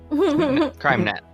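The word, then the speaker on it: KreimNat: Kremnat. Crime-net. It's German. Say it right.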